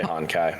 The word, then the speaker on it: Honkai: Hokai Star Rail is a bit more. Did he just call it Hokai Star Rail? Yeah, I didn't put the N in there. It did say Honkai.